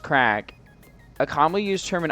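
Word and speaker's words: craic: But yeah, crap pronounced crack.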